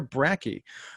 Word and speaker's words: Bracke: complete history of friday the 13th mr brackey um am i pronouncing that correctly yeah okay so i just